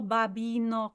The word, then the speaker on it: babbino: Double B, so that means you linger on the double B slightly more.